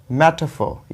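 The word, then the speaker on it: metaphor: ये देखो कैसे कैसे आप प्रोनाउंस करेंगे, मेटाफोर, मेटाफोर, या आप बोलो मेटाफोर, आर साइलेंट है, ठीक है।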